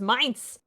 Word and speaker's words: Mainz: Oh, Dirk Pitt River says it's pronounced Mainz.